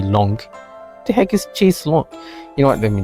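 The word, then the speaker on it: chaise longue: The ue e is silent. So, chis long is pronounced as she's long.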